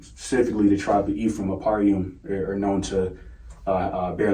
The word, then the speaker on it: Ahparyam: Ahparyam in the Paleo Hebrew, Strong's H669, and here you go, this is how you spell it, Ahparyam.